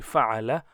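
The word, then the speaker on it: فَعَلَ: So pronunciation will be fa'ala, fa'ala and fa'alu.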